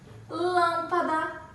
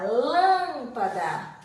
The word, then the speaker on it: lâmpada: pagar E aí a lâmpada nada tempo ambos com acento agudo ou circunflexo esse primeiro aqui que a sílaba tônica lâmpada utilizamos um acento circunflexo chapeuzinho lâmpada agora cálice on